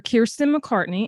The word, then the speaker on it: Kiersten McCartney: Kiersten McCartney. Am I pronouncing that right?